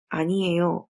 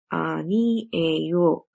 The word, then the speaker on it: 아니에요: Let's look at the next phrase, which is pronounced as 아니에요. 아니에요, which means no, or can be used to mean it's not true.